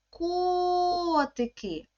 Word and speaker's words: котики: слові котики три склади тепер ми маємо поставити наголос гукаємо слово котики який звук ми протягуємо найдовше звук о позначте ось таку паличку над буквою о А тепер дітки Давайте